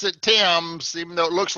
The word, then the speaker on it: Thames: Thames I guess it's yeah we pronounce it team so it looks like Thames but we pronounce it Tim's okay dance okay there is a console on